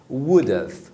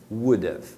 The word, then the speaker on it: would've: Então o have fica só com o som de of, would have, would have.